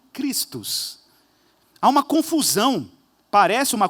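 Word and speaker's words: Chrestus: Se você vê em texto grego como que a palavra Crestus é escrita, ela é basicamente pronunciada como Christus.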